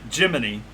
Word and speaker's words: G-Money: gold chains so he actually pronounces it Jiminy like Jiminy Cricket but it's but it's spelled g money so anyway uh G